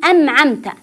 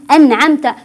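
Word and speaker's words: أنعمت: صراط الذين انعمت عليهم ركزوا على كلمه انعمت فالبعض يقرا النون بالميم ام عمت ام عمت او يدغم يقول انعمت انعمت يعني يدغم ولا يوضح حرف النون انعمت والبعض يقراها احيانا باللام يقول العمت ال العمت وهذا ايضا غير صحيح فاقول انعمت انعمت عل عليهم بهذه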